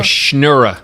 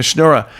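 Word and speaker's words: schnorrer: It was, is it snura? A snura? A schnura. A schnura.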